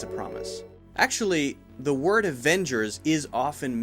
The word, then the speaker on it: Avengers: to be careful about the V sound and the W sound when you say Avengers your bottom lip needs to come up to your teeth the butt doesn't need to be here ha ha no just on the inside of your bottom lip Vava otherwise it sounds like a w al Wenders a Wenders